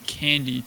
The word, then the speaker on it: Kandy: have your token staked, the price can go down, but you're still getting that you're still getting that extra Kandy reward basically to your balance, and it's compounding.